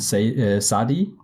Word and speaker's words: Sadie: me at least, like the band Sadi, or like Sadie, or yeah, I'm not sure how that one's pronounced. I think you're right with the first one. It's Sadi, but yeah, like I guess some Americans in forever.